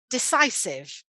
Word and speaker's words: decisive: of somebody who is decisive so again the stress will be in the middle there so not a massive